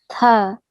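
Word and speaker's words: ث: Tha.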